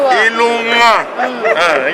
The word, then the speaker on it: Ilunga: Ilunga, il faut bien prononcer. Ilunga.